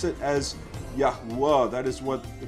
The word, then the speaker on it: יהוה: They will pronounce it as Yahuwah.